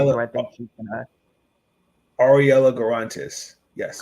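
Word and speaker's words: Arella Guirantes: We got Ariel Gutierrez, I think that's how you pronounce her name. We also got Teresa Poisson, who I think she's gonna. Ariella Garantes. Yes. Garantes.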